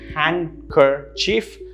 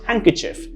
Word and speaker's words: handkerchief: tricky in english the next word is of course hanker chief pronounced that way by most the correct pronunciation actually suppresses a lot of these sounds and it's pronounced handkerchief handkerchief notice that there are three syllables but it's a hang not a hand handkerchief handkerchief and that's how it's pronounced i hope you found